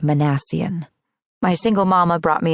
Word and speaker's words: Minassian: Just for kicks, it's pronounced Manassian.